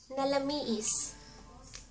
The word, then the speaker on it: Nalamiis: And to say It's cold, and to say It's cold, Nalamiis. Nalamiis. Na la mi is Nalamiis.